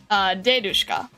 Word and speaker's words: dedushka: The emphasis in babushka and dedushka lands on the first syllable.